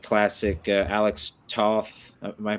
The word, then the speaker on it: Toth: saw that had that almost like classic Alex Toth. Am I pronouncing that last name correctly? Alex Toth, yeah.